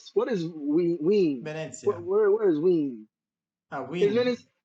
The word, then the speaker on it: Wien: I Wien, can think only because this about is maybe it's Wien. Vienna. Wien. Do you say Vienna in English?